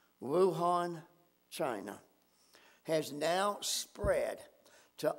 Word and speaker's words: Wuhan: few weeks what originated and I believe it's pronounced Wuhan China has now spread to over a hundred